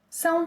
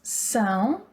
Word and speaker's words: São: Vocês são. Eles são. Elas são. So the nasal vowel sounds again.